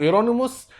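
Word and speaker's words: Ἱερώνυμος: وإيرونيموس ده النطق الصحيح لجيروم، زي ما المفروض جيسوس أصلها إيسوس، إيرونيموس قلبوها جيروم، يعني ليها علاقة بانتقال الاسم ما بين اللغات واللهجات، لكن هو المفروض اسمه إيرونيموس، اللي هو جيروم أحد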